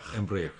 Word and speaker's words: Embraer: Embraer, yes. Yeah. Sorry, I always knew that I would not be able to pronounce it.